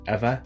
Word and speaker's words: Ewa: ew ear so but you pronounce it ever as in like forever ever so ever and